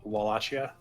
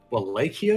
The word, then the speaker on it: Wallachia: Wallachia is the proper pronunciation? I've never heard it that way. Though granted, the only times I've heard it is through a very thick accent, so... Wallachia.